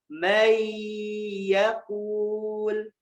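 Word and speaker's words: من يقول: Man yakul. Bacanya jadi may yakul.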